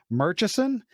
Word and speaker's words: Murchison: butcher your last name Murchison I assume that's how you uh pronounce it yeah so if you would